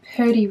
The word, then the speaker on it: Purdy: Number 6 is called Purdy Red, spelled with a P-U-R-D-Y, not just me mispronouncing pretty.